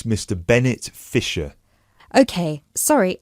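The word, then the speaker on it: Fischer: me your full name sure it's mr bennett fisher okay sorry how do you spell your surname it's spelled f-i-s-c-h-e-r great thank you i see that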